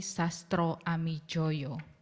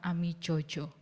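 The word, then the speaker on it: Sastroamidjojo: Uh um uh his name was spelled in the old Indonesian spelling but it should be pronounced as Ali Sastro Ami Joyo not Ami Jojo.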